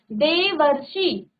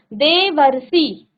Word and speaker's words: देवर्षि: देखो अब उच्चारण करेंगे आप देवर्षि, उच्चारण क्या हुआ, देवर्षि, देवर्षि, वर, वर का ही उच्चारण आया, अर का उच्चारण आया यहाँ पर, तो देवर्षि।